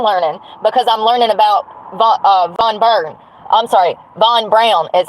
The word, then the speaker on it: Von Braun: I'm learning because I'm learning about Von Braun is how it's pronounced, which is crazy to me.